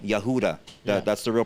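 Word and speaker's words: יהודה: take the the um tribe of Judah right Yehuda that's the real pronunciation that's where Utah.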